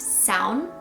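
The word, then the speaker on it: Samhain: of the word looks like samayan but it's pronounced sound and sound means summer's end so this festival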